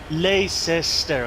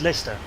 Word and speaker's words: Leicester: Like, place names, it's like Leicester, okay. No, it's Leicester.